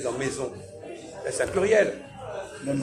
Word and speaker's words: mais: Alors que j'ai dit même mais, M-A-I-S, pourquoi je ne prononce pas le S de mais?